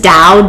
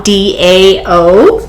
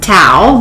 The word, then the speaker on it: dao: what the dow is dow d-a-o sometimes pronounced tau but it's dao with a d and also i was